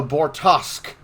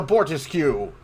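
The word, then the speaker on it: Bortasqu': own goddamn ship's name the ship is called the bortosk not the bortis cue for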